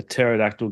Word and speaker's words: pterodactyl: Why can't you hear a pterodactyl go to the toilet? What? I'm not sure. Matt, tell me why. Because the P is silent.